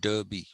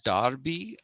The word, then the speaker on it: derby: sure for s.h.i.r.e and d-e-r-p-y darby they don't call it derby it's a darby a darby is an